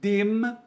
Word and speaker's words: dem: Então a gente fala den e den, só que no alemão não pode. É den e dem, ok?